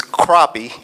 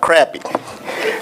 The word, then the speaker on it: crappie: I understand that it's crappie and not crappy.